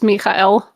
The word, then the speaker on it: Michael: Rashina for $1.99 says Michael is pronounced Michael, like Castiel.